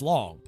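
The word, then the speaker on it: Loong: Loom staff or long it's long you want to call it Loom cuz it's the Double O's but I think it's long just spell it with two o's it's a China thing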